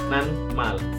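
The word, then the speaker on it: 낱말: Terus juga ada natmal. Natmal si tiet tadi karena ketemu miem akan menjadi nian, jadi dibacanya nanmal, artinya kosakata ataupun kata.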